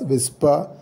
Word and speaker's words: WSPR: power of 10 dbm wspr is pronounced as whisper stands for weak signal